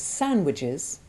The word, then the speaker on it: sandwiches: And that sandwiches can rhyme with ridges as well as switches.